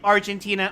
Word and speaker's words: Argenti: pronouncing it like Argentina or Argentina? It's Argenti. Argenti. Okay, so it's like Argentina. Argenti is correct. Like Argentina.